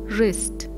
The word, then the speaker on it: wrist: the word is Island W is silent and the word is wrist similarly wrinkle this